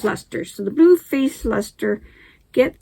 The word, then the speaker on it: Leicester: Pronounced Leicesters? There we go. Pronounced Leicesters.